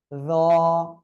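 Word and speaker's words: راء: র, র। এ অক্ষরটা একটু মোটা আওয়াজে হবে, জিহ্বার আগা দুই দাঁতের আগার সঙ্গে লাগিয়ে উচ্চারণ হবে।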